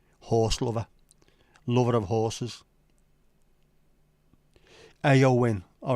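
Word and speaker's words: Éowyn: pronounced Owen I would have thought it was pronounced Owen is a supremely powerful and feminine name of Old English origin horse lover lover of horses AO win all right sorry AO win what what a what a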